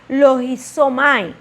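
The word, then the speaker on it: λογίζομαι: En el griego se pronuncia logizomai, que significa enumerar, contar, determinar, razonar, considerar, meditar o pensar en él.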